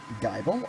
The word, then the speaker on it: Gible: The glamow slowpoke scorpipe gible or gible. I've heard it pronounced both ways.